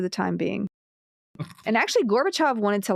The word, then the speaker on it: Gorbachev: During a meeting of government officials, including Gorbachev, uh, it was I'm saying his name wrong. Gorbachev. Yeah, it's always pronounced Gorbachov. Gorbachov, which always makes me think of pork chops, and I'm not sure why.